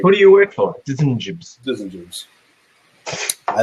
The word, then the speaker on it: DSGNJBS: It's spelled like Design Jobs, but it's like DSGNJBS. So it's Design Jobs.